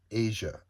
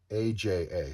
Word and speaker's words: Aja: David Aja, A-J-A, sorry, David Aja.